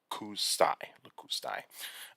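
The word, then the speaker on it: lakustai: You also have Canadensis, Canadensis, and Lacustai. So you got Paratorum, Canaden, Canadensis, and Lacustai, or Lacustai. And so sometimes these names are very hard to pronounce, and so it's Paratorum, Canadensis, and Lacustai.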